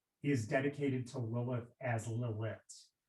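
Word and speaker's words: לילית: In this case, this altar to the west is dedicated to Lilith as Lilit. Lilit is how in Hebrew her name is spelled. It's Lamed Yod Tav, and can be pronounced Lilit.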